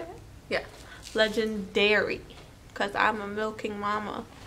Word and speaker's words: Legendairy: Yeah, Legendairy, because I'm a milking mama, box.